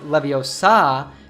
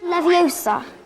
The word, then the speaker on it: Leviosa: She explained that when saying Wingardium Leviosa, you should not pronounce Leviosa with an open ah sound at the end, but rather with a schwa sound. So instead of saying Leviosa, you should say Leviosa.